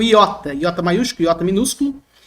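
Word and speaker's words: ἰῶτα: O iota, iota maiúsculo, iota minúsculo, o nome da letra, como se escreve em português, iota, representa o nosso I, como na palavra timbre.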